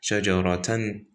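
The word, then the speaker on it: شجرة: Like shajarah, just replace the ta, or feminine ha with the ha when stopping. But if you're not gonna stop, you just say shajaratan, you just pronounce it ta. But if you're gonna stop, it's gonna be a ha.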